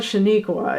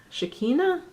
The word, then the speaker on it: Shekinah: I was going to say Shaniqua, but it's not Shaniqua. It's Shekinah. If anyone knows, well, how